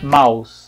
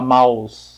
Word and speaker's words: mouse: gente fala mouse mas é pronúncia original é maus não tem som de z nenhum é é assim mesmo tá se fala maus como se fosse o